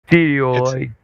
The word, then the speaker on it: theodolite: Theodolite.